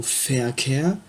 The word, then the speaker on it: Verkehr: Par exemple, le mot Verkehr, qui signifie le trafic autoroutier, ou le trafic routier, s'écrit avec un V au début. Donc se prononce comme un F.